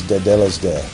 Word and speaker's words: Tetelestai: It's the proper pronunciation is Tetelestai.